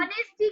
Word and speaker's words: honest: ऑनेस्टी का शुरू हो रहा है H से। H कॉन्सोनेंट है, कॉन्सोनेंट के पहले हम ANN नहीं बैठाते हैं। फिर भी हमने ANN क्यों बैठाया? क्योंकि ऑनेस्टी का प्रोनाउंसिएशन A से शुरू हो रहा है, इसीलिए। वैभव समझ में आया?